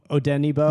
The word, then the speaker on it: Odenigbo: Cameron Klein or Afidi Odenigbo? There you go. There's like the G is there, but it's not pronounced.